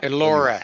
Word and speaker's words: Elora: Is it pronounced Elora? Elora, where you are. Elora, yes, yes.